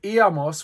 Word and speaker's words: íamos: With íamos, we have three syllables. We have I, a, and mos.